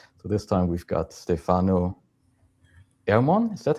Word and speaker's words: Stefano Ermon: So this time we've got Stefano Ermon. Is that how you pronounce it?